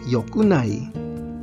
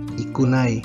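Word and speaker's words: 良くない: Pero ang negative conjugation nitong dalawa ay isa lang, yokunai, yokunai, at hindi ikunai, mali ang ikunai. Yokunai lang ang tama para sa dalawa.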